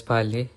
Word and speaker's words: parler: And also, many French words have silent letters, especially at the end. For example, the word parlor is pronounced as parler, and the French R is also unique.